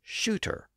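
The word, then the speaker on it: suitor: of her male companion but the pun only works if both words were pronounced as shooter and as I noted that's how the word sutor was spelled in the original quto so Within These back-to-back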